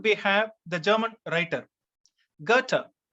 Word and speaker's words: Goethe: have the german writer goethe h e it is pronounced gutter in english and his work autobiographical